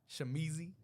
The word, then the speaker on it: Shamizee: all platforms right uh shamizi I say it like that too shamizi young music on